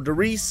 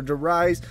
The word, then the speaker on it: Der Riese: franchise and that is the Rhys or Darice or the rise some people say it like that I call it the Reese and this is a